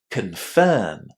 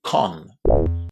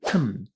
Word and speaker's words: confirm: as you can hear, the stress in that word falls on the second syllable, and because of that, our first syllable in this word is really, really short. You shouldn't say con. Try to say kun, kun, kun. Very, very short.